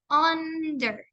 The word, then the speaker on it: under: Como ejemplo de la palabra para el sonido corto, tenemos la palabra under, under, ¿ok? Está pronunciándose con una U. Como les dije, la U no se pronuncia U, sino under.